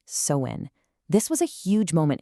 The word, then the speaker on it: Samhain: And by the way, it's pronounced sewin.